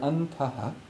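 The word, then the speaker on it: antaḥ: So the word antaha, using a visarga, A-N in English for just now, A-N-T-A-H with a dot underneath, pronounced antaha, means inner.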